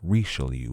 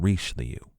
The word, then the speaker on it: Richelieu: xiii and cardinal richelieu which i have been pronouncing incorrectly it's racial you not reach the you but of course that